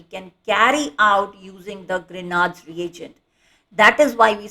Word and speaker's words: Grignard: The G is silent over here, and we say it as Grignard's reagent, or you would also be hearing it as Grignard's reagent.